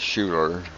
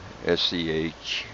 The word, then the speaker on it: Schuyler: So, oh man, here it is, a Monday morning, and I'm up in, I pronounce it Schuyler, Schuyler, Nebraska.